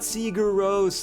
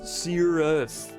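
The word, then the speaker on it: Sigur Rós: say it correctly like it's not Searos, it's Cirrus and the whole like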